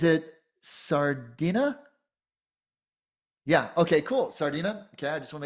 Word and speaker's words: Sardinia: Sardinia. Okay. I just want to make sure I'm pronouncing it right.